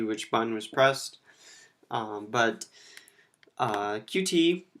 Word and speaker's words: Qt: bun was pressed but QT especially pronounced cute so cute has a